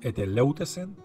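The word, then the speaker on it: ἐτελεύτησεν: La manera en que esta palabra se pronuncia es eteleutesen.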